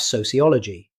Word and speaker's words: sociology: Finally, we have sociology. Many learners speak this word too quickly. But native speakers usually pronounce all five syllables clearly. So ciology. The stress falls on ol.